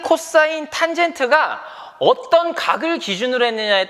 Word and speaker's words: cos: 빗변과 밑변을 짝지은 거를 우리가 뭐라고 하냐면요, COS라고 일반적으로 쓰고요. 얘를 코사인이라고 읽어요. 코사인.